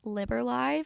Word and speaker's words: Liber: So, I also wanted to come on here and add I was pronouncing the name incorrectly. It's actually Liber.